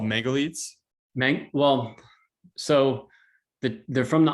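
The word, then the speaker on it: Mangalica: batch of they're called Mangalites? Well, so they're from the Austro-Hungarian Empire. So the correct pronunciation is like the C in Cyprus. So Mangalisa.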